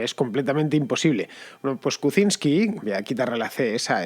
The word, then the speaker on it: Kuczynski: kuczynski ese es la así es como se pronuncia el nombre de nuevas bromas kuczynski no cocines que lleva un ace por adelante el problema es que